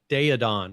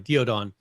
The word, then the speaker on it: Daeodon: Then they have the it's the Daeodon, right? I think that's the pronunciation. The Daeodon, or Diodon, sorry, Diodon.